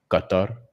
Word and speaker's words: Qatar: I I believe Qatar is the proper way to say it, but I it's I I don't sound good saying it. just I'm just gonna say guitar, bro.